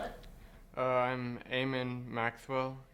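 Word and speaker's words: Eamon: by telling me your name and how to spell it uh I'm aan Maxwell e a m o n I'm a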